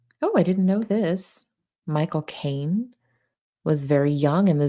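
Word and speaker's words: Michael Caine: a British accent right if you want to say his name and sound exactly like he does when he says his name pretend you're actually saying the phrase my cocaine and just say it fast my cocaine now you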